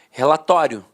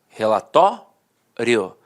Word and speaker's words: relatório: Então, antigamente, todo mundo falava a pronúncia paroxítona terminada em ditongo. Falava assim, ó, relatório, relatório. A penúltima sílaba era a sílaba mais forte e a última, de fato, perdia a força.